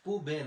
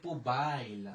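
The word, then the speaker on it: poubelle: তাহলে কি উচ্চারণ হইলো? পুবেল। পুবেল। পুবেল। অনেকে বলি পুবাইল। না মুসু নামাদাম এখানে পুবেল ঠিক আছে এরপরে এই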